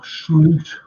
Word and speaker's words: Slot: the light of uh slot or slute as his proper pronunciation he's the type he's